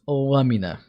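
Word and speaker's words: lâmina: But yeah, even for Portuguese grammar, she failed because it's pronounced lamina. Lam. So the A sounds a bit different.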